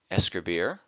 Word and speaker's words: escribir: an infinitive verb and place an emphasis on the last syllable hablar Comair escribir on a conjugated verb